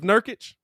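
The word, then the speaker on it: Nurkić: ready uh i want to make sure i pronounce his name right is it yusuf nurchick yusuf nurkic nurkic that's uh that's that's that's that's uh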